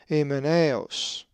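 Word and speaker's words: Ὑμέναιος: The accent is over the iota in the diphthong alpha iota. We will be coming to the diphthongs shortly. So the pronunciation of this Greek word is emeneos.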